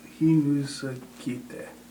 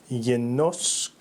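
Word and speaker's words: γινώσκετε: Hinuskite. That's close. It's not bad. It's yenoskete.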